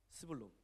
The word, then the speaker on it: 스불론: 발음을 정확히 해야 됩니다. 뭐라고요? 스불론.